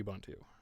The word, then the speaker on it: Ubuntu: are very natively supported and I use K Ubuntu and yes I know it's actually pronounced Ubuntu that's not how I like to